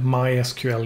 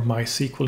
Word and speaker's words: MySQL: The very last asset of the free for the month is going to be the MySQL integration, or MySQL integration, if you prefer that pronunciation.